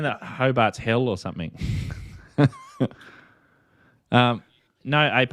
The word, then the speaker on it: Hobart: South, Hobart. Hobart. Hobart. Oh, there's a big estuary there. There's an R in there. He's almost as far south as I am north. That's a silent R.